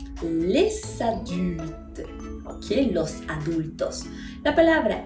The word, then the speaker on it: les adultes: adulte comienza con vocal, los vamos a unir haciendo que ahora sí pueda sonar esa S.